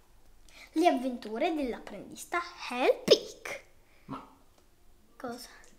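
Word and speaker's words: Hlapić: E poi dice con la C appena accennare, quindi sarebbe l'apic. La P. Vabbè. La P. Vabbè, io dico Hellpig, va bene. Le avventure dell'apprendista Hellpig.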